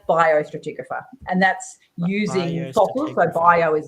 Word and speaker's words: biostratigraphy: also worked as a bio stratographer which I know I've pronounced wrong um which is also in the title of this episode let's get the official pronunciation from the letter yeah well how do you say that that's bio stratigraphy and that's using bio